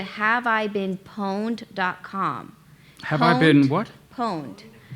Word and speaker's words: pwned: Pwned. Pwned is spelled like owned, like I own something, but with a P.